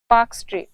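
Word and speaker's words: Palk: जलसंधि उसका नाम है पाक जल संधि इंग्लिश में ये स्पेलिंग में ल भी आता है पर ये ल साइलेंट है तो ये पाक जलसंधि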